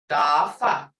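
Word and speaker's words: tafv: Dafa, as in English, stiff. Hear it? Stiff. Creek. D is unaspirated. Because what they mean is like sounding to English speakers as though it were halfway between a T and a D.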